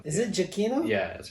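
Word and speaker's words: Giacchino: really because claire was singing you've been saying gia kino as long as you have and i had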